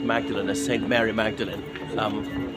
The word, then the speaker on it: Magdalen: e l n but the church me thinks is still pronounced Magdalene as St Mary Magdalene